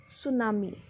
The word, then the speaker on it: tsunami: take place by any you have to pronounce it as tsunami tea is silent here hurricanes and tornadoes are